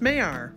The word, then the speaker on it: Maillard: Yep, it's pronounced Maillard.